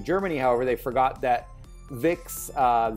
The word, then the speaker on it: Vicks: however they forgot that Vicks the V is pronounced F like an F and so it sounds